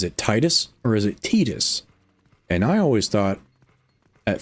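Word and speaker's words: Tidus: me and I was right it actually is tetus but you got that weird thing going on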